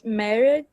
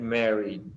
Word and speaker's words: married: Não, você não pronuncia o e.